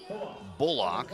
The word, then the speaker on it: Bullock: So Kyle Bullock is how they're pronouncing it.